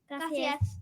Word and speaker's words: Gracias: Gracias.